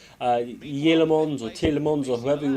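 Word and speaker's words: Tielemans: You know, a lot of people have been saying in my messages, you know, it's Yelemons. The T is like a Y.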